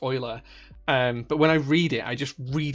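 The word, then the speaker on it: Euler: then say it so I just read it as Ula because that's how it's spelled so that's how just how my logic brain works sometimes but I do know that it's Oiler really recommend visiting Sweden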